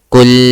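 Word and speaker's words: قُل: You could not pronounce the ku or you could not pronounce the L sound at the end.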